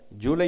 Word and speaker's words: July: July, you have to stress on second syllable for only for July.